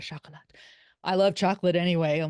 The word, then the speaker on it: Chocolat: sh chocolot um and you have to say it like that chocolot I love chocolate anyway